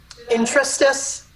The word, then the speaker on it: interstice: bit, and I am hesitant to try and pronounce it. Intrastice. Thank you. There are states of intrasticity, and intrasticical, intrasticitive, and intrastitious. Interstitious, yes. So I look at the interstice to me is the overlap of 16th century